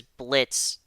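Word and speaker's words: Blitzø: Blitz, but the O is silent.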